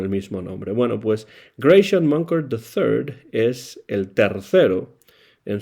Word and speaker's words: Grachan Moncur: Así que entró eh Graycian Monker tercero en una familia en la cual la música tenía eh presencia. Pero bueno, si ustedes no saben cómo pronunciar el nombre de este trombonista, es Grayan Monker the, el tercero.